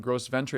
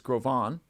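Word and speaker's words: Gros Ventre: mispronounced in times past it's a French name it's not gross Venture it's grovan that may or may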